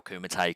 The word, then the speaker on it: Kumite: Yeah, so at the start of this, I pronounced it as Kumite Wrestling Academy. Kumite. Yep, so Kumite.